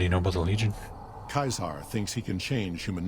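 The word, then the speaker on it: Caesar: voice acting going no no mr dorn it's pronounced kaiser like josh sawyer you dork what makes the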